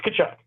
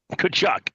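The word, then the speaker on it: Tkachuk: pronounce their names tchuk the T the te is silent it's kachuck kachuck got it got it that that's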